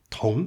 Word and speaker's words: 同: Down the page to our entry, which tells us this character sounds like T + ONG (徒紅).